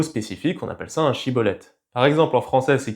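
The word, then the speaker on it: שיבולת: Normalement en hébreu ça se dit chibolet mais les effraémites avaient un accent et ils prononçaient ça sibolet avec un s et donc à chaque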